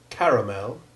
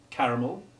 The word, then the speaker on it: caramel: exactly though note that caramel and citadel may also be pronounced correctly without any stress on the last syllable in which case the sound becomes short e2 caramel and citadel the last